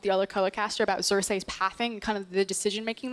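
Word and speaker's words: Xerxe: always say his name gonna say it it's Cersei Cersei is one of our best junglers in the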